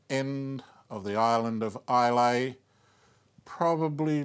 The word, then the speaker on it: Islay: the island of Islay, or as the Scots like to pronounce it, Islay.